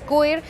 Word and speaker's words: Cuir: Creo que lo pronuncio bien. Por ahí me dijeron que es Cuir.